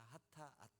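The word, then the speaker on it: חטאת: 하타앗, 이렇게 좀 빠르게 하타 이렇게 발음하는데, 이 하타라는 단어는 죄를 짓다라는 의미를 가진 하타에서 유래한 단어입니다.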